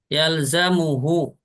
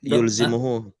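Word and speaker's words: يلزمه: Yalzamuhu. Ya, wajib baginya. Iya, ini Ana sempat kira dok, bacanya itu yulzimuhu. enggak. Yalzamuhu.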